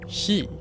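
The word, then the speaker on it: 四: número que ves es el cuatro shi que se pronuncia igual que Muerte en japonés es un número que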